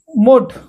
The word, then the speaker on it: mould: squad तो पुणी last 10 number एठी देखंतु मोड आको मोड बोली पढ़ंते मोड अर्थ आकृति MOULD मोड आउ एल को साइलेंट करे मोड ओके तो वर्तमान एठी देखंतु